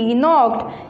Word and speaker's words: knocked: KNOCKED नॉक्ड, जहाँ पर हमारे पास N से पहले K लेटर लिखा होता है तो वहाँ पर हम K की साउंड नहीं निकालते बल्कि K को साइलेंट कर देते हैं। साइलेंट लेटर्स वो होते हैं जो लिखे तो होते हैं मगर उन्हें हम पढ़ते नहीं हैं, उनका साउंड नहीं आता, तो इसलिए हम इसे नॉक्ड पढ़ेंगे।